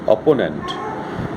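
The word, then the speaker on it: opponent: তো একটা গণ্ডগোল আছে, অপোনেন্ট এই কথাটা কিন্তু এখানে 3টে যেমন আছে, অ্যাকচুয়ালি কথাটা দুটো সালেবেলে। অপোনেন্ট আমরা উচ্চারণ করি এইভাবে, অপোনেন্ট, 3টে হয় না, অপো একবারে হয়, নেন্ট একবারে হয়, অপোনেন্ট।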